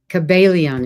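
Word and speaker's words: Kybalion: The Kabbalion. Kabbalion. Kabbalion is how it's said.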